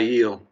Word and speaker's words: Aiel: I call them the ale, and I know that's not right. Aiel.